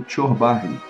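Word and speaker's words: çorbacı: Ele observou: só uma observação, pelo pouco de turco que sei, essa palavra se pronuncia como çorbaje. O C cedilha turco tem um som meio que de CH, como em tsok.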